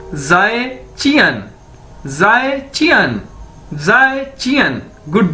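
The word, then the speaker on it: 再见: हम उसे कैसे कहेंगे, जाए चियन, जाए चियन। ये देखिए मैंने इसको प्रोनाउंसिएशन इसकी बता दी है, ZAI, जाए ची अन, जाए ची अन, जाए चियन, जाए ची अन, यानी गुड बाय।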